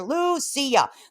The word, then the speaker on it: Lucia: Lucia. That's how you say her name.